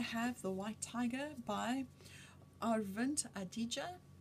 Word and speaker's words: Aravind Adiga: the white tiger by arent adija that's how it sounds like they say his name on the video where they gave him